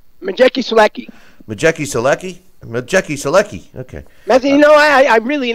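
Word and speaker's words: Maciej Sulęcki: Daniel Jacobs against I think how do you Masik Saluki? How do you pronounce his name? Majeki Selecki.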